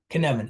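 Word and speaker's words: Cynefin: where we are right canvan it rhymes with Kevin everybody there you go thank you thank you Marlene so the Kevan framework was developed by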